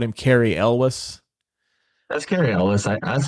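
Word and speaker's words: Cary Elwes: I've heard 3 or 4 different ways to pronounce this. I've always called him Carrie Elwes. That's Carrie Elwes.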